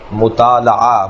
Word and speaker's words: مطالعہ: کتاب کا پڑھنا اگرچہ صحیح تلفظ ہے مطالعہ، مفاعلہ، مقاتلہ، مناظرہ، جی مقابلہ، اس وزن کے اوپر مطالعہ، لام پر زبر ہے، لیکن معمولاً ہمارے